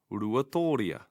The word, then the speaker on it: Ruatoria: If a word looks challenging, try dividing it into syllables to help your pronunciation. For example, ru, a, tō, ri, a. Ruatoria.